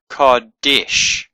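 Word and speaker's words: קודש: We know it's a shin because it's got a dot there. If it had a dot over here, it would be sin. But this is a shin, so it's a sh sound, not a s sound.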